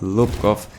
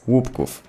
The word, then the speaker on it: Łupków: to be pronounced, because it's not Lupkow, technically in the game it says łupków Pass, so yeah, that's how you pronounce. It's łupków. Sadly, the update bringing us